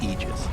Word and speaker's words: Aegis: a point okay so the correct pronunciation technically speaking of ages is aegis this it's a literal